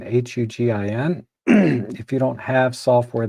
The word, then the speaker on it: Hugin: And you can use a free software called, I think it's pronounced Huggin, Hugin.